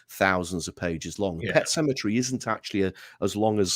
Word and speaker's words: Sematary: it is actually spelled it is actually pronounced as you would as you would pronounce Cemetery where they bury people it's just that within